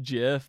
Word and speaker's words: GIF: it's they actually said the Creator actually said that it was pronounced jiff like that that's what he had had pronounced it as himself when he did it